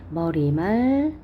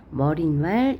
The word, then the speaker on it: 머리말: 머리말, 인사말. 얘는 그러니까 우리가 평소에 발음을 잘못한다고 생각하시면 돼요. 머릿말, 인사말 이렇게 니은을 덧나게 발음하는 게 표준 발음이 아니고, 얘는 요거 자체가 표준 발음입니다.